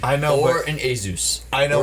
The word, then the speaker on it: Asus: I know, Or but an Asus. I know. Or Asus, if you want to pronounce it that way.